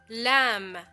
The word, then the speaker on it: lamb: Cub lamb lamb M another word where I did not pronounce the letter B well because the letter b also likes to silently follow the letter M at the end of the word so we write it